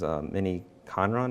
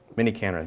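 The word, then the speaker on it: miniKanren: And then Core Logic is mini Conron, is that how you say it? So it's pattern matching, logic based. I think of Prologue when I... Mini Canron, thank you.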